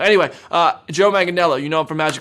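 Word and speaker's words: Manganiello: woman this here uh how to pronounce manganello because I thought it was all Magan Yello anyway uh Joe magello you know him from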